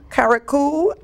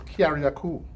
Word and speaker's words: Carriacou: Grenada, Caracou, and the Petite Martinique. Excuse me. Oh boy, The contacts. touchy area. You have to say it right. It's Carriacou.